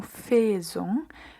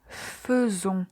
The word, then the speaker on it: faisons: Quand on dit nous faisons, donc on ne va pas dire nous faisons mais nous faisons. C'est comme s'il y avait un E mué au lieu des lettres A et I.